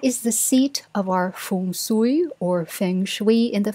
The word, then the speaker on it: Feng Shui: takes from Feng Shui, which I hear being pronounced as Feng Shui by mostly Americans, but in the Philippines we say it as Feng Shui.